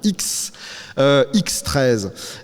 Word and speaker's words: XIII: En tout cas se matricule, ce X I XE hein, pour qu' on prononne bien, on prononce bien le X13.